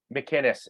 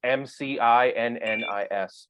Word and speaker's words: McInnis: McInnis, MCINNIS. Gotcha. spell it one more.